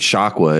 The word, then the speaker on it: Shakwa: him, you would also know who Crazy Nate Shakwa is. It's pronounced Shakwa and spelled the same way.